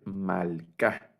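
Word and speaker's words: מלכה: Este Sheva tampoco suena, y entonces vamos a leer Malca. Es la palabra para reina, Malca.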